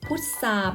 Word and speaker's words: พุทรา: อินทรีย์ มี cert นนทรี พุทรา เพรา ทรวง ใส่ ซับ แทรก วัด เบอร์ โทร มา นัด ฉะเชิงเทรา ตัว ทร เหล่า นี้ เรา ออก สำเนียง เป็น เสียง ซอ นัก เรียน สามารถ ฝึก